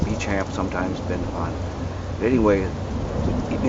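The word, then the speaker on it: Béchamp: people have never heard of bamp antoin bamp pronounced bechamp sometimes Bend upon anyway you need to focus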